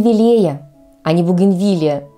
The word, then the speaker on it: бугенвилия: увидеть в южных широтах большинство садоводов произносят это слово с ударением на третий слог Да и пишут часто неправильно через и вместо предпоследнее Однако же верный вариант буген бугенвилия запомните друзья следующее слово